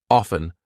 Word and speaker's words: often: silent T hustle or f t n silent T often soften I'm not saying often I go to the